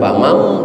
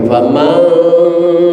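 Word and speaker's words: فمن: Maka yang benar bacanya bukan famam, tapi faman baddalahu ba'dama sami'ahu fa innama ismuhu 'alal ladzina yubaddiluna.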